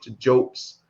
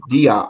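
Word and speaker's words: Diop: brother dr shake and anta joke shake anti joker spell c h e i k h his middle name anta a-n-t-a and his last name is very simple d-i-o-p some people pronounce it as dia but it's really when you pronounce it in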